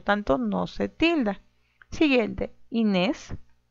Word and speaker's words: Inés: Siguiente, Inés, Inés. Muy bien, sílaba tónica, nes.